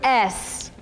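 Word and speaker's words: ESSE: It's spelled E-S-S-E. It's pronounced S, not S-E, S-A, E-C, East. No, it's the S, and this is the original iteration of it.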